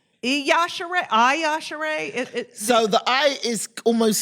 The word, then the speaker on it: Yashere: It's Yashere. So the I is almost silent. Okay. So it's spelled Iyashe, but it's Yashere. So it's Yashere.